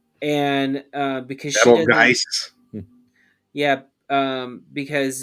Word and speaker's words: Betelgeuse: Beetlejuice is always spelled so weird because it's Betelgeuse, which is always so weird.